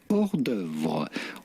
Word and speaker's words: hors d'oeuvre: Simply hors d'oeuvre. Hors d'oeuvre. Oh damn! That did not sound like the U.S.